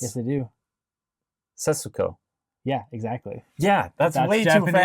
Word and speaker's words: Setsuko: But they never pronounce the su. It's yes, they do. Setsuko.